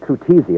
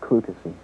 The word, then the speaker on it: Clutesi: I said Clutesi, and it's not. It's Clutesi. Clutesi. Yeah. Thank you very much. I had a feeling I was going. George Clutesi, wherever you are, accept my apologies.